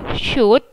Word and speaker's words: should: Pertama yang kita baca adalah si SH-nya itu kita baca ush gitu ya, lambangnya kayak gini, ush. Terus O-nya nggak usah dibaca, langsung kita ke U, should, S-U, oshu. L-nya juga nggak dibaca nih.